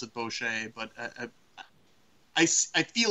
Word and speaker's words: bochet: a French sounding woman bo che like boo instead of bowl like scary boo keeping